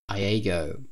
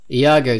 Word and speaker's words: Iago: Iago. I think that's how it's pronounced. Iago? Iago? Iago, there we are.